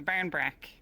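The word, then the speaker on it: barmbrack: the last thing is the barn bra that's how you pronounce it Barn bra um like this is rad here it's got little raisins in it but it also has other things in it also pronounce Barra with an M if you're not Barra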